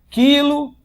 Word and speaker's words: quilo: Quando você fala quilo e quero, ó, quando você fala quilo, quero, ó, o Q e o U são pronunciados como se fosse uma letra, um fonema só. Cuidado.